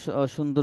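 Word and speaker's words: سين: হচ্ছে আমাদের, সিন, জি সিটি আওয়াজটা আমরা যখন আমাদের যখন প্রেসার কুকার ব্যবহার করা হয় বাসাতে, তখন একটা আওয়াজ দেয়, সিটি দেয়, ওরকম কিছুটা আওয়াজ হবে। সিন, আগে শব্দ হবে, পরে হরফটা উচ্চারণ হবে। সিন, হুম। আগে আওয়াজটা হবে, সিন, তারপর উচ্চারণটা হবে।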